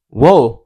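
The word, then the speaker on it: を: Wo, which is spelled WO, is the Japanese particle that tells you the object of a sentence and the verb of a sentence.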